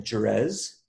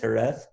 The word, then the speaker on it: Jerez: i couldn't speak in fact i was saying jurez because it's spelled j-e-r-e-z and i'm saying jerez right and it's pronounced hereth and uh you know you you don't speak